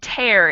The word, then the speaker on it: tear: from this paragraph is prayer and tear where we have another interesting comparison between words that rhyme and have very little in common with their spelling prayer we have an a-y-e-r and tare it's t-e-a-r so they're not alike in spelling but they are alike in pronunciation can mean to make